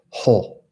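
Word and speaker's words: ὁ: teach their students that when you see that little like line on top of the word oh, it's a breathing sign, so you're supposed to say ho, ho, or ha. That's how they teach it. It's called the Erasmian pronunciation.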